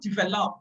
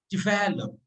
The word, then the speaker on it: develop: the examples develop transcription develop the stress is on uh the second syllable which is so it's not developed but developed after transcription comes the